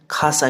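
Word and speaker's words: 傘: इसको लिखते हम कासा है बट वो प्रोनाउंस खासा किया जाता है।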